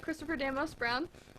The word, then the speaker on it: Christopher Demos-Brown: So we'd just like to start off with Christopher Damos Brown. Am I pronouncing your name correctly?